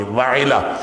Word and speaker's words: وعلا: کا نام بعض نے وہلہ لکھا ہے، واو ہا اور لام ہا وہلہ، بعض نے لکھا ہے وعلا، وعلا تھا، اس کا صحیح تلفظ تھا واو عین لام اور ہے، وعلا۔ تو بہرحال یہ بیوی